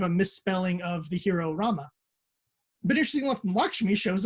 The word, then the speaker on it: Rama: Rama, or Ramu, as I always pronounced it for years, but supposedly it's pronounced Rama, is named after the